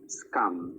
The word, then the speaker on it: SKAM: I don't know if you're aware of this series called Scum in Europe. I'll spell it.